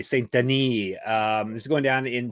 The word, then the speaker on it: Saint-Denis: And today is all about UFC Fight Night, Boycano versus Saint-Denis, aka Saint-Denis. I'll say it properly. Saint-Denis.